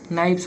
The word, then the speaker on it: knife: इसका आंसर होगा देखिए ऑप्शन नंबर बी हो जाएगा, यानी कि KNI नाइफ्स हो जाएगा। क्या हो जाएगा? नाइफ्स हो जाएगा। इसे के साइलेंट आता है, यानी नाइफ है, नाइफ का नाइफ्स हो जाएगा।